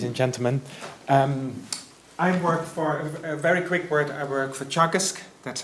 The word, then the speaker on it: Teagasc: I work for Teagasc, that's how you pronounce it.